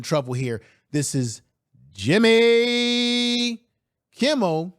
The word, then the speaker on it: Kimmel: entertainer like a Jimmy Kimble or Kimmel, let me say his name right, or a Jimmy Fowler